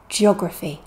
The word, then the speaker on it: geography: is also a noun but we stress just the stress syllable J geography listen and repeat with